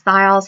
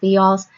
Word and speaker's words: thiols: And I'll just tell you right now, I pronounce this thiols half the time, but I think it's actually pronounced thiols.